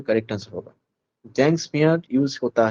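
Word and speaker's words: Tzanck: ये एक Japanese word है, तो इसमें टी जो है ये साइलेंट रहेगा, टी को बोलना नहीं है, सिर्फ जैंग स्मीयर, ऐसा बोलिएगा कि जैंग स्मीयर।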